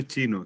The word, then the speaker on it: zhi: Facebook y nos preguntan el nombre del sello chino que estabas comentando. Se llama Chi, se escribe Chiyi.